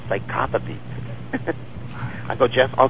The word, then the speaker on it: psychopathy: red is there anything let me let me correct you psychopathy psychopathy okay psychopathy red okay I just pronounced the syllables what can I tell you yes please psychopathy well thanks for the uh the uh the lesson there but uh lesson in in English there you go know it